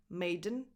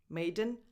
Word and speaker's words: Maiden: And then Maiden, you don't pronounce the E, you go directly from the D to the N. Maiden, Maiden, Iron Maiden.